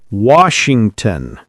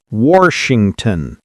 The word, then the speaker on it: Washington: Washington. Don't insert an R. Not Washington.